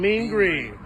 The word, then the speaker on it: Mean Green: keep saying it wrong, so I better 8 just, Vermin and Mean Green. Mean Green, there you go. Just think of the cleaner, Mean Green.